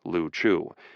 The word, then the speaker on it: Liu Chiu: The group of islands was called the Liu Chiu, the Chinese word usually pronounced Liu Chiu, meaning either pendant ball or bubbles floating on water.